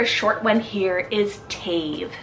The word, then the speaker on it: Tave: Skies then for a short one here is Tafe spelled t-a-v-e tave now this is a great one syllable name option could totally work for a